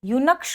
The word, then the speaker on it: eunuch: अधिनियम में किन्नर यानी यूनक्स को परिभाषित किया गया था। इसे ध्यान रखिएगा, यहाँ पर ई क्या है, साइलेंट है, तो इसे कैसे पढ़ते हैं, यूनक को परिभाषित किया गया है।